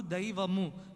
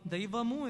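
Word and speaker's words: దైవము: We should try to clearly pronounce the words. Mata Pita Guru Daivamu. Daivamu is the Telugu word for God.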